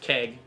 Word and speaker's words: Chegg: And right up the street at Peanuts is Chegg on Friday, which is actually pronounced Keg. I always say it the way it's written. I apologize. It's Keg.